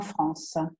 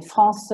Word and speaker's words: France: France ha la E muta, O-U si legge U,